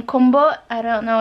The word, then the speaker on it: Kumbo: My grandma used to call them Kumbo.